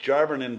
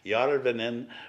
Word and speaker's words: Jarvinen: And my name is pronounced Jarvinen, but in Finland it's Jarvinen, which means by the lake.